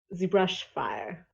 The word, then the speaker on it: Zebrush Fire: Zebrush fire. Zebrash Fire? Okay. Like a brush fire with a Z at the beginning.